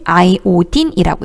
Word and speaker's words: 아이오딘: I는 아이오딘이라고 읽어요. 자, 아이오딘 53번이고요.